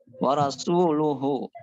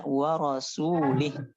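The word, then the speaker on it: وَرَسُولُهُ: Ah, wa rasuluhu, ya kan? Yang benar itu. Tapi laki-laki itu bacanya Annallaha bari'um minal musyrikin wa rasulih.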